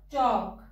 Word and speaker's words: talk: Next is L. Palm, come. L hai, par sound nahi dete. Ki bolenge? Palm, come. Chalk, talk, walk. Fork, yoke, and half. In all these words, the L is silent.